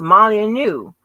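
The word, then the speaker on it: Molineux: is it pronunciation please oh honey I'm way wrong honey it's pronounced Molly new Molly new Molly new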